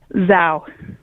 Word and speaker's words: Zhao: you so much um your last name is pronounced what Zao Zao you guys you got